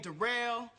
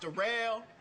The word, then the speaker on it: Daryl: My name Darrell. It's spelled like Daryl, but it's pronounced Darrell.